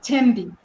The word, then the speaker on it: Thembi: What's your Be favorite pronounced color? Tembi.